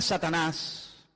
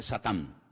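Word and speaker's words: שטן: la palabra la palabra Satanás que significa adversario es un nombre que viene del hebreo en hebreo no se dice Satanás se dice satán que significa adversario y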